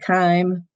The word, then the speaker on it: thyme: It rhymes with chyme and rhyme. Parsley, sage, rosemary, and thyme.